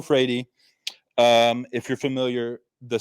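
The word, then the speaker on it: Freire: a different way but i'm pronouncing this person's name as paulo freidy so again the d is like a really really nice portuguese rolled r so paolo frady um if you're familiar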